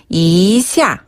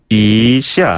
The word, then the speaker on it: 一下: 발음 조금 비슷한 편이죠. 그다음에 예. 좀 뭐뭐하다라는 뜻을 가지고 있는 이샤. 이샤.